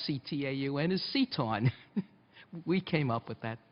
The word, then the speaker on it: CTAUN: That's how you pronounce CTAUN, is CTAUN.